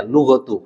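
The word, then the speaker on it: لغةُ: kalau kita tahu kaidah kita bisa yakin bacanya lughatu Kenapa lghatu karena dia khobar Anna alqurani Kenapa dia jerai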